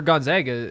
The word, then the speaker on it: Gonzaga: marissa is actually a gonzaga fan um can you give us a couple things how do you pronounce it gonzaga not gonzaga okay and then what